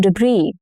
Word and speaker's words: debris: The street was full of storm debris. Debris. Now, since this is borrowed from French, the final consonant, which is letter S in this case, often goes silent.